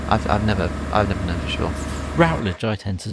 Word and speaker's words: Routledge: Routledge, I tend to say.